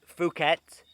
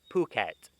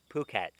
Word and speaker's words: Phuket: city in thailand like phuket it's not phuket like ph it's not fur it's phuket phuket okay remember that so